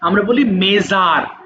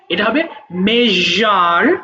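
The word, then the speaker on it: measure: এইযে এই জাতীয় শব্দগুলোর ক্ষেত্রে আমরা যে য উচ্চারণ করি আমরা বলি মেজার মেজার হয় না এটা হবে মে দেখো এরকম একটা সাউন্ড হয়। এটা হবে মেজার।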